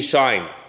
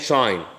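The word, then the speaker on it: sinh: It is pronounced in Alexandria University to be shine.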